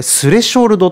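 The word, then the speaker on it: スレショルド: みましょうかこの thr rsh これスレショルドって読みますスレショルドスレショルド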